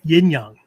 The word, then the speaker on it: yin yang: Yeah, she's doing Chinese. Yeah, in the original Chinese Mandarin pronunciation. Yeah, she likes showing off. That's yin yang. Yin Yang. Yeah. In Japanese, it's in and yo. Cool.